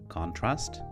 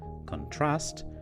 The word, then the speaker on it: contrast: have a look at words that change from nouns to verbs or vice versa depending on their stress position let's start with this